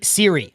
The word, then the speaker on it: Surrey: you pronounce things because apparently I pronounce Surrey wrong, so I can't. You just and I'll bet people don't even know what you just meant to say. That's how wrong you say it. It's Siri, like Apple iPhone Siri.